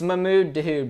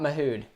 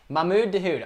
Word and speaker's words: Mahmoud Dahoud: It's Mahmoud Dahoud, bro. Not Mahoud. Mahmoud Dahoud.